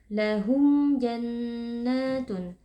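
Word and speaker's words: لَهُمْ جَنَّاتٌ: dibaca panjang dua harakat lahum jannatun Nah ada mim sukun yang bertemu dengan huruf Jim hukumnya adalah izhar syafawi cara membacanya mim sukun dibaca dengan jelas tanpa berdengung jannat Nah tadi kita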